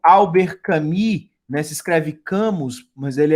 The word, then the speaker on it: Camus: Se escreve Camus, mas ele é argelino, né? Então, essa origem francesa na Argélia, né? Albert Camus, né?